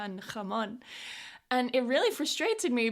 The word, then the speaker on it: jamón: So, when I was first learning Spanish, I really struggled with this "ha" sound as in "jamón".